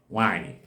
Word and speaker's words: nwaanyi: Wanyi. Wen-a-a-nye-e. Okay, now Wen is a combo of Ne and the We. Then Nye is the combo of Ne and the Ye. Okay, now Wanyi means woman.